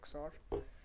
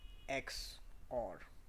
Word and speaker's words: XOR: little bit so that we I can write xort um X or so that's how it's pronounced it's called X or and yeah so